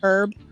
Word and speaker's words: herb: man honest I'm honest British and you say herb and they say herb herb wild wall herb yeah they'll say herb it is her h-e-r-b herb go over there and